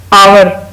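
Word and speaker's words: hour: फिर है आवर, घंटे को आवर कहते हैं, आवर, अब इसमें भी एच साइलेंट है।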